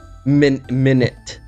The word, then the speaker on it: Minit: ago and if you yeah minute and by the way it's spelled m-i-n-i-t so if you search for it's not spelled like actual minute but uh it's um